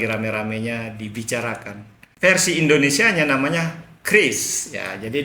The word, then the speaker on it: QRIS: Versi Indonesianya namanya Kris. Ya, jadi dulu kita ngomongnya QRIS, padahal yang benar itu katanya Kris.